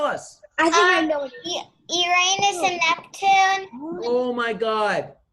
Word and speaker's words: Uranus: Uranus is the Latin, and in Latin, you pronounce that planet by Uranus.